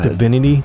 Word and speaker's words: Divini: So that seems to be Divini is the right way to say it.